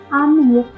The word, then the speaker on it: आमेर: Moving on टू the next top tourist attraction of Jaipur, Ambar fort pronounced as आमेर sits on अ टॉप of small hill and is located at a distance of 11 kilometres from the main city.